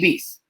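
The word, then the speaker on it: Beis: but uh uh eddie beast uh he's an old school bdm i know him from time to time days as well um e-i-s eddie b-e-i-s i think he pronounces it beast um he's on instagram as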